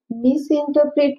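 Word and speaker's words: misinterpret: मिसइंटरप्रेट means चुकीचा अर्थ काढणे किंवा भलताच अर्थ लावणे means मिसइंटरप्रेट. It pronounce मिसइंटरप्रेट. R is a silent letter.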